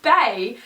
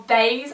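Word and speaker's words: Baies: do it now um it's called ba or baz I'm not quite sure like it could be b a i e s with like the silent s so B but yes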